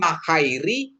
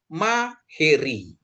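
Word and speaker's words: μαχαίρι: Terus alfa ketemu Yota, bacanya jadi E, itu maheri. Ini jadi E bacanya. Bukan mahairi, tapi maheri. Ya. Atau kadang disebut makairi gitu ya. Makairi, tapi kurang pas ya. Dia maheri gitu ya.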